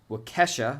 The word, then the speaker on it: Waukesha: And Waukesha, I believe that's how you say it.